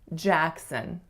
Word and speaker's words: Jackson: Jackson. The first syllable is the winner, and it has to be tense, a. The second syllable is a schwas, Jackson.